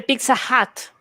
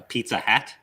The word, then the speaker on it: Pizza Hut: I just had a Pizza Hut. A Pizza Hat? Pizza Hut. H-U-T. I'm H-U-T. sorry, I'm pronouncing it wrong.